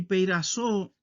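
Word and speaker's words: πειράζω: Así se escribe en griego y así se pronuncia. Peirasmos es el sustantivo y peirazo es el verbo.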